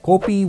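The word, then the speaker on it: kopi: want to go copam copam is basically a Singapore pronunciation of copi which is a Malay word for coffeeam is a hwan or fuan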